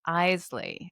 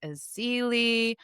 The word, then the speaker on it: Eley: center, um, how about the nursery that I always mispronounce and is yet such a fantastic conifer nursery, and that is Eley. And I always say Aili is I mean, I've